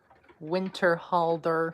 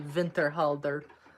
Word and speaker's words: Winterhalder: I'm trying to pronounce companies and obviously Winterhalder, as people call it, is actually Vinterhalder.